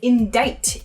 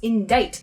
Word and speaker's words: indict: Indict. It sounds like it should be spelled I-N-D-I-T-E, right? Or maybe I-N-D-I-G-H-T, right? That "ite" sound at the end. But this is actually spelled I-N-D-I-C-T.